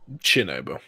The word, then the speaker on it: Chernobyl: Chernobyl. Chernobyl, okay. I've heard both pronunciations of sh with like an S sound and ch.